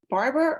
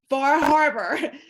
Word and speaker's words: Bar Harbor: Okay, I'm over here in Louisiana, and every time because I'm going to Bar Harbor in October, and I'm like, Bar Harbor, but y'all kind of put it together, right?